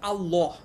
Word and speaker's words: আল্লাহ: যে আমরা বলি আল্লাহ, এটা কিন্তু আরবিতে হচ্ছে আল্লাহ, ঠিক আছে। এই যে লাম আর ল এর মধ্যে কিন্তু উচ্চারণগত স্লাইট ডিফারেন্স আছে। লাম, অ্যারাবিকের লাম আর বাংলার ল, দুইটার মধ্যে কিন্তু উচ্চারণের কিছুটা পার্থক্য আছে।